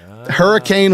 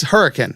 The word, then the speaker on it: Hurricane: live in capitol county it's hurricane yeah not hurricane west virginia it's hurricane that's how you pronounce it well i also i lived in